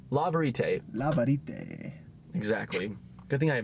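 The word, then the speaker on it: La Vérité: Didn't realize how new this was to the collection, but it's La Verite. La Verite. La Verite. Exactly. Good thing I have Nick here to help me pronounce the...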